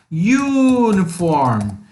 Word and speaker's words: uniform: eu vou colocar a you uniforme por quê que é o uniforme esse som de u aí não é o woody vogal é o som de yu começando com y mas que na grafia